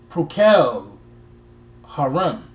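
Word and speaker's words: Procol Harum: They kind of give the pronunciation Procol Harem.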